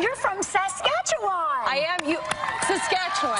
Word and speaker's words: Saskatchewan: Saskatchewan. Saskatchewan. I say it like the Muppet song.